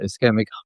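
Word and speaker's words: ischemic: So with uh cardiovascular and is isic you pronounce it eskeemic heart diseases it's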